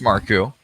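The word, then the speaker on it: Marcoux: hole for Marku his name is pronounced Marku my last name is spelled cou obviously a last name of French origin the pitch down low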